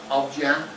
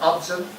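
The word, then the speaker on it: Obyan: think plain um now I think you pronounce that Oben is that right Oben not obj but Oben someone say yes this is um this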